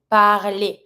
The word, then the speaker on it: parler: Keep in mind that every time that you have a verb finishing with er, the er ending will going to be pronounced e. So you're going to be saying parler. You don't pronounce the r on its own. The e plus the r together makes the sound e.